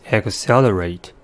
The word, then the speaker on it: accelerate: the next word is accelerate the word has four syllables and the stress is that the second one the first syllable is ack at the first sound